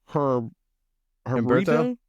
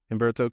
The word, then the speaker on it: Humberto: Oh, Herberto. Humberto Carrillo. How you pronounce it? Humberto Carrillo.